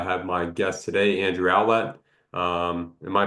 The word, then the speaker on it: Owlett: I have my guest today, Andrew Owlette. Um, am I pronouncing that correct? Owlette.